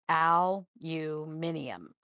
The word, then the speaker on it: aluminium: We say aluminum, but it's aluminium.